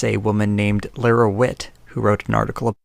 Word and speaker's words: Lara Witt: In this case, it's a woman named Lara Witt who wrote an article. Never trust anyone whose name rhymes with twit.